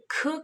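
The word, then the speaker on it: 게: और अगर मैं आपको इसमें कोई एग्जांपल दूँ जिसमें ख की आवाज़ आ रही है, खे, खे, खे is basically crab. In Korean language crab को खे कहा जाता है, खे, खे, GE, खे।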